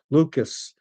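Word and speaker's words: Lukes: Lerido, Miles Straw, David Schneider, Nathan Lucas, a name that I hate because it's spelled Luke's. I like names to be pronounced the way they're spelled, but it is what it is.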